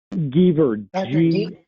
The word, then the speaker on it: Giever: Could you pronounce his name again? Geaver, G-I-E-V-E-R.